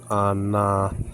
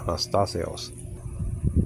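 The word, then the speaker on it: ἀναστάσεως: Resurrection is the Greek word anastaseos. Anastasios. Now, Anastasios is spelled out ANASTASEOS, or alpha with the salt breeding marker, so it's not hot.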